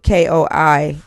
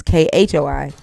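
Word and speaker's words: Khoi: but the the Kokoy the Kokoy isn't spelled Ko I like it's spelled here. It's uh theirs is K H Oi, right? in South Africa. They're K ho I not ko i.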